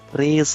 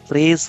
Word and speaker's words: très: Très is spelled T-R-E-S with this accent, and the S at the end of a word may be pushed into the following word if it starts with a vowel taking the sound of an Z or C. For instance, very important can be très important, très important, très important. The S at the end of très can be put into the vowel I of important.